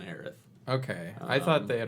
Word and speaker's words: Aerith: with heiress or no it never was heiress yeah it's always the Earth yeah anytime has been voiced it's been aireth okay I thought they